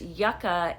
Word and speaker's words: Yucca: it The Yucca palette it is actually pronounced Yucca if it is spelled this way um but I did